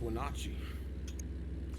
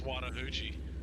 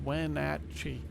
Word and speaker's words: Wenatchee: I thought it was pronounced Wenatchee. She's I thought it was Wannahoochee.